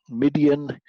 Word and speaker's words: Midian: of the mid nights midian rhymes with Gideon so it's fairly easy